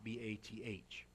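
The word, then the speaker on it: בת: the Hebrew Bible the the word for daughter is bath ba th the first syllable of the name Bathsheba Bathsheba okay Ava so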